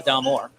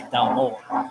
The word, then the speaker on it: Dalmore: Well, I mean, like we'll say Dalmore, but if you go to Scotland, they'll say Dalmore. They'll put more of an emphasis on the second half.